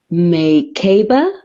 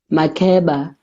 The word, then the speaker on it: Makeba: time you were asked, so is it Maykaba, Merkirby, Mukaba, Merkaba, Mikaba, and you, polite and unoffensive, Makeba, yes. So that's just a short poem to start us off.